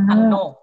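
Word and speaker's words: 항로: Jadi berdasarkan kesadaran, berdasarkan informasi ini akhirnya dayangan beragam beragam Hesang laut hangro bacanya kira-kira apa? Hang hangno.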